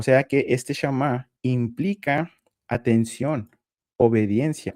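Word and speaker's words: שמע: palabra en hebreo y esta sería su pronunciación. Sí. Eh, si alguien hablara hebreo, por ejemplo, lo que escucharíamos nosotros sería este shamá, que significa oír inteligentemente.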